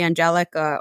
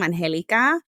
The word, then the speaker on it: Angélica: I pronounce my name Angélica.